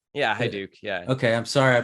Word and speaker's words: Haiduk: i apologize i uh i pronounced your last name incorrectly then it was hi hi duke yeah hi duke yeah okay i'm sorry